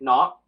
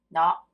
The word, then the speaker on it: nó: Nó, Nó, nó. nó. Yeah. It's like a no, like no, but with the like upwards what's that tone?